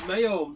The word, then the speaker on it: Maum: I pronounce that Mayom because it's like foam. You've got, if you put an F there, you've got F foam. So it's Mayom. Mom.